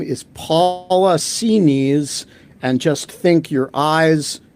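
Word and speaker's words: Xinis: I spoke to a clerk in the court, and she sounded authoritative, and she said it's pronounced C-knees.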